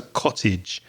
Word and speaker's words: cottage: confusing it's c-o-w-t-a-g-e but the a is pronounced e it's a cottage and a cottage imagine